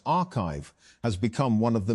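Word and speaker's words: arXiv: Although papers are posted to the site before they are peer-reviewed, Orgsiv, pronounced archive, has become one of the main ways that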